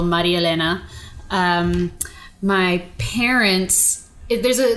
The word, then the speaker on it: Marielena: Uh, well, it's Maria Elena, pronounced an espanol, Maria Elena.